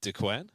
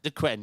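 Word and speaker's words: Duqueine: We're getting the how do you pronounce that one? Uh the Dquen Dquen.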